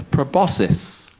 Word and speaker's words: proboscis: It's a proboscis. Well done, and you're one of the few that have actually pronounced it correctly.